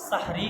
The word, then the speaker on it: সাহরি: আর যদি আমরা জবর দিয়ে পড়ি সাহরি খাওয়ার সময় হয়েছে।